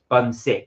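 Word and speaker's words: 분식: called Bunsik, which is, I think it's pronounced it's Bunsik, that's it, but it is written Bunsik.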